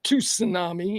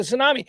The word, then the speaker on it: tsunami: The key is silent. You look like an You call it a two tsunami, you know. You got to call it a tsunami.